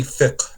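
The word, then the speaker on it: fiqh: includes these Sciences and it's manifested through mostly thick and thick is what we call and translated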